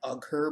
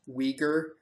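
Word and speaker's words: Uyghur: and weers yeah I know it looks like uger but it's pronounced weager well they're all an amalgamation of of Northeast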